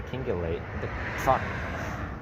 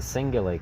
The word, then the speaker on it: cingulate: remember I had been pronouncing the kingulate did it right there neuromus attribution the singulate cortex as the kingulate cortex as we begin with a C it didn't occur to